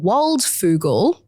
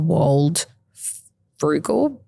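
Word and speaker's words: Waldfogel: So, his name's Joel Waldfugal. Oh, yep. I wanted to call him Joel Wald Frugal, but Oh, that's not how you say it.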